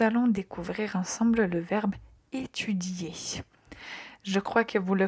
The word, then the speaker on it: étudier: Faites attention juste à la lettre I qu'il faut prononcer.